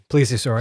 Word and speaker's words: plesiosaur: on crypto zoology especially with you mentioning the plesiosaur that's how you say it plesiosaur plaur okay because everyone knows Lochness Monster Nessie